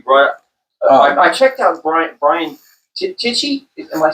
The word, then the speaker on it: Tichy: I checked out Brian Tichy. Am I pronouncing that? Tichy, yeah.